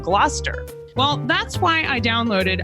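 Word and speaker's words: Gloucester: Like originally I said glalcaster instead of gluster.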